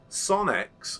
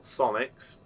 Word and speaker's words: Sonex: real aeroplane so um sonix or sonics um depending on how you want to pronounce the name of the company is a real aircraft